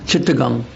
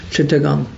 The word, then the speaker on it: Chittagong: known as um um Chittagong. That's how it how it's called in the English pronunciation. Chittagong and Makunda Data his